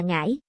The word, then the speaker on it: Ngái: Quảng Đông là ngài còn người Ngái đọc là Ngãi người Ngái còn tự